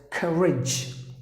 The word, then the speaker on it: courage: And then here, you can say the letter O is silent, so you have to pronounce the word as courage. Courage. You have to stress in the beginning. So courage, that's how you have to pronounce the word, not courage. Please don't say courage. It's courage, courage, meaning you have the gut to do anything.